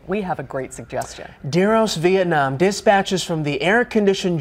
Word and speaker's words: DEROS: How do you pronounce that? DEROS? DEROS. DEROS.